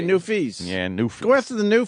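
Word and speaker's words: Newfies: it the new family is that how you say it new fees just say new fees yeah go after the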